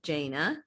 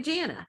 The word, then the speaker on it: Jana: lot of people mispronounce my name is jana and a lot of people call me janna my dad's name was